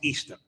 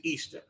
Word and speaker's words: Ishtar: just want to get Ishtar sounds real close to Easter right and actually the Creator to create correct pronunciation of Isha is Easter the correct pronunciation is Easter spelled i-s-h-t-a-r you understand